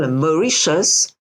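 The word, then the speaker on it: Mauritius: time of of how your your Homeland is pronounced yes it is called macius so it is named after a Dutch Prince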